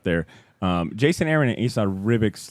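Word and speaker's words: Ribić: Jason Aaron and Esad Ribic's like, how do you say it again? it's Ribic. Ribic.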